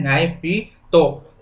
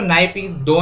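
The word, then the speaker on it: Naypyidaw: और इसकी कैपिटल है नायपीतो। दोस्तों, नायपीदो नहीं होता, बहुत लोग आपको गलत पढ़ाते हैं। नायपीदो नहीं है, नायपीतो है, नायपीतो। NAYPITAW इसकी करेक्ट स्पेलिंग है।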